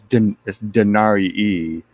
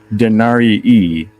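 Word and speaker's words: denarii: so say it again dinari e that's how you say it re yeah because you're saying the ey twice the second one is long you see in Latin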